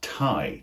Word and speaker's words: Thai: to get married this has the exact same pronunciation as the word Tha t h AI which is the language or